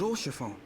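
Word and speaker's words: Haurchefant: Oh, Lord Oshafon.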